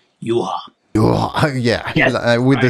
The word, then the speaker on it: Juha: about Finnish is that your first name is pronounced Juha, not Juha, so that's basically the only thing I know, so I need to work on that.